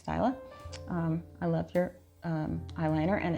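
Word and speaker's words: Stila: I've been pronouncing it Stilla. I thought there were two L's, so I apologize, Styla.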